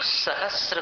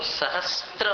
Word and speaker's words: सहस्र: बहुत से लोग सहस्र को सहस्त्र बोलते हैं। सहस्त्र ये बिल्कुल अशुद्ध उच्चारण है। सहस्र सिर्फ स के साथ र मिला हुआ है, त्र नहीं है वहां।